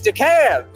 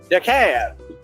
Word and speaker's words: DeKalb: It's DeKalb. What do you mean? I'm pronouncing it right.